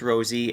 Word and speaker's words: Rosy: There's no E. Yeah, it's pronounced Rosy, and it used to be deriven from my original last name, which was Rosati.